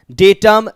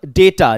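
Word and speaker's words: data: maximum maxima medium media डेटम डेटा डी ए टी ए डाटा नहीं डेटा पढ़ोगे singular क्या होता है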